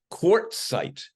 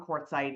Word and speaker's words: Quartzsite: And everybody pronounces it incorrectly, Quartzsite.